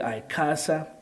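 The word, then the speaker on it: ICASA: this is a casa a lot of people pronounce it differently i casa de casa right so we'll be having in casa to give us the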